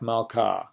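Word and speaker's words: מלכה: mappiq would be like malka, which happens to be the word for queen. But if the hey at the end of that had a mappiq, it would be malkah, right?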